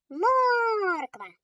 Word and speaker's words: Морква: Морква. Кличемо її. Морква. Наголошений. О.